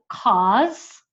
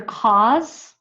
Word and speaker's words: cause: of page page 55 cause uh what is your cause for doing this and it's the z sound even though it's spelled with an S but we have write the Z okay cause uh Clause